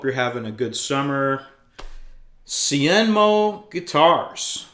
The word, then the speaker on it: Hsienmo: Cienmo Guitars. So, the H is silent, pronounced Cenmo.